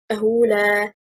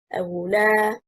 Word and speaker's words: أولى: أولى, the correct stress is on حركة الهمزة. It is one word and the meaning of the word is more worthy. If we stress on the second حركة اللام, we will say أولى. What happened? We will separate the word into two, and also the meaning will change.